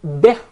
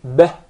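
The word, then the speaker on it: بِهِ: The ba has a kasrah beneath it. So we must make sure it is pronounced as kasrah. It's commonly mispronounced to be bih. If you notice, the kasrah is with a smile, bih.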